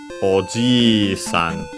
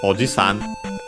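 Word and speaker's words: おじいさん: the long vowel Oan because actually if you make it short it changes the meaning and we get OS which is actually uncle so be careful uncle uh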